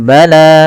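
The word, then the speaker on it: بلى: Pada ketika kita melafalkan bala man kasaba, panjangkan huruf lanya sepanjang dua harakat. Karena la di sini ada alif kecil yang datang setelahnya dan ia berada di atas huruf ya. Dan ya di sini dianggap tidak kita baca karena hanya bunyinya saja. Ketika bunyinya bala, maka di situ menandakan adanya alif kecil.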